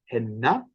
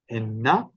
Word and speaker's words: henna: So henna, henna, when we say it that way, it doesn't sound English at all.